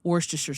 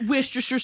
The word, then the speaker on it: Worcestershire: Is when people say wash your sister instead of Worcestershire sauce.